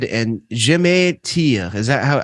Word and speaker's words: Je me tire: And Je me tire. Is that how the song is pronounced? Yeah. Je me tire.